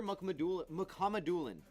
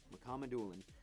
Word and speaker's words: Mukhamadullin: It was Shakir Mukhamadullin. That's how you say it. Mukhamadullin.